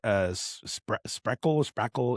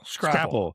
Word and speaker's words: Scrapple: is stationed here, and I kept saying sprackle. It's like some other thing. It's You said it right earlier. It's Scrapple.